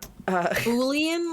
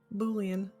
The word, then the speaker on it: Boolean: Boolean, like Julian, but with a boo. With a Bullion. Boolean.